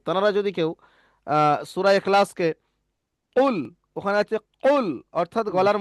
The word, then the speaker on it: قل: একদম জবানের শেষ, অর্থাৎ জিভের গোড়া দিয়ে উপরে তালুর সঙ্গে ঠেকিয়ে কফ উচ্চারণ হয়।